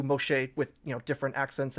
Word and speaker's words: Moshe: the mastic text uh it is the basic also way of how like a modern Israeli uh or Jewish person would pronounce the name something at least close to Moshe with you know different